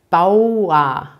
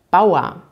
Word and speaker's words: Bauer: tipps oder gemüse anbaut hier ist zu beachten dass ihr dieses auto hat wird immer wie ausgesprochen bauen und am ende habt ihr das er aber dass er wird hier wieder nicht betont also es ist eigentlich wie ein a man könnte auch sagen bauer bauer beim richter hört ihr